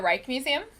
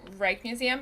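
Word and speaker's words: Rijksmuseum: you go to the Reich Museum I don't think so what's that one so it's spelled are ijk right Museum but it's right in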